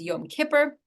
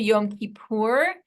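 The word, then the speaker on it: Yom Kippur: pronunciation well most um ashkanazi Jews in America originally pronounced the holiday of the day of atonement as Yom Kipper but then switched to Yom kipur sometime in the mid 20th century as a response to Modern Hebrew becoming the norm and uh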